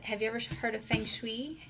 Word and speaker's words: feng shui: you ever heard of feng shui I hope them saying that right feng shui Fung Shui Fung Shui I think that's the right way to say it you know there's